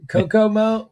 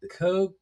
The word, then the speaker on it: Kokuho: And the nominees are, and I'm not even following my cues: Frankenstein, Kokomo. No, this is why I gave this one to you, to hear you mispronounce this. Let me try it. Kokuho.